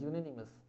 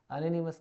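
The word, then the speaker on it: unanimous: the proposal was accepted by यूनानिमस vote, यहाँ पे pronunciation य हो रहा है, यूनानिमस, अनोनिमस नहीं, तो यहाँ पे बाय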